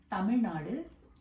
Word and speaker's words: Tamil Nadu: where I'm from is called Tamil Nadu or Tamil Nadu if you want to say it really properly with pronunciation Tamil Nadu um the person said